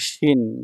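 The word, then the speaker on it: 森: যে কাঞ্জিটা আছে দেখুন 62 নাম্বার এটা হলো মরি মরি হচ্ছে বন বা জঙ্গল এটার চাইনিজ উচ্চারণ হচ্ছে শিন শিন ঠিক আছে এটা যখন সিঙ্গেল থাকবে একাকি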